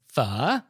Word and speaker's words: phở: i can get is fu and vietnamese is a tonal language and so it's a low falling and then rising tone kind of like mandarin's third tone so it sounds like